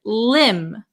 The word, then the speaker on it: limb: B Marcel very good the B is also silent so we would pronounce this word Lim Lim Lim okay then